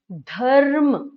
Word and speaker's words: धर्म: अब आप धर्म बोलिए, धर्म, धर्म, ध के बाद हम र का उच्चारण कर रहे हैं, हम ध के बाद र का उच्चारण कर रहे हैं, धर्म, धर्म, और र का हौले से उच्चारण कर रहे हैं।